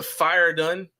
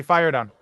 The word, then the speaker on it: Fire Done: All right, so the Fire Done. Is that did I say it correctly? Yeah, you said it correctly. Fire Done.